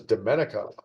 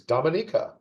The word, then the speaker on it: Dominica: Another fun pronunciation one. I always thought it was Dominica, the small island nation. No, it's Dominica.